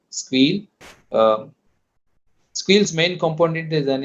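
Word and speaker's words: Sguil: So generally, people will pronounce it as a Squeal.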